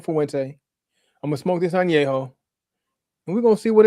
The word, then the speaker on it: Añejo: I gotta say it right, Añejo.